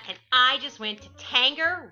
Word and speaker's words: Tanger: i just went to tanger rhymes with hanger outlets and washington pa